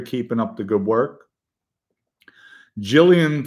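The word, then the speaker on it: Gillingham: Gillian football team is pronounced by us locals as Gillerin Gillerin I don't know.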